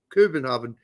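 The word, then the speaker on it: København: Uh or Kenhovven as they say somewhere in their own Kubenhov Kubenhav how they pronounce it there.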